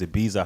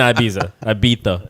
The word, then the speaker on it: Ibiza: I keep watching all these Ibiza highlights.